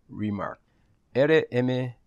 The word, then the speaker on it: RMRK: hoy vamos a analizar rima rm rq pronunciado rimar es un conjunto de